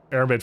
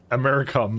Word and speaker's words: aramid: lead container stopped that's what it actually is aramid fiber which I just fixed now your your pronunciation of American name is getting better I mean what was I calling it before americam that's what it is it's it's the C